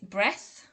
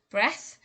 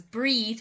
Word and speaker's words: breath: people mispronounce this as breathe but of course breathe has an e on the end and it's um in breathe we have a voiced th and in this case it's unvoiced so you shouldn't be